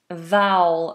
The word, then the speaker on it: vow: Vowel. Vow is pronounced like vowel. So when you get married, you take a vow.